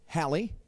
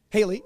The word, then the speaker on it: Haley: our dear panelists, Hallie. Can you join us, please? Haley, sorry. My accent is not correct. There you go. Correct pronunciation is Haley, right?